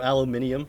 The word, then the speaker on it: aluminium: Did you know that aluminum is actually pronounced... Oh, aluminium? Yeah. But Americans are rebels, we say it the wrong way.